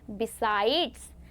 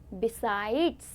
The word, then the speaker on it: besides: आई डी ई एस बसाइड्स तो कई लोग इसे भी बसाइड प्रोनाउंस करते हैं पर वो गलत होता है क्योंकि इसकी प्रोनाउंसिएशन क्या होती है बच्चों बसाइड्स क्या होती है बसाइड्स